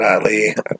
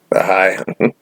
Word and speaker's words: Ahai: Azor Ahai, that's how I pronounce it. I didn't know how to say it. Not Ali, Ahai.